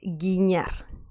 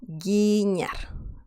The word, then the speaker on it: guiñar: The next one is guiñar. Guiñar. Okay, so this has a peculiar pronunciation because of the letter ñ.